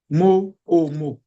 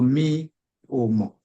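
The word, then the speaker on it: mi ò mọ̀: Because what I wrote before, like this, mo, o, mo.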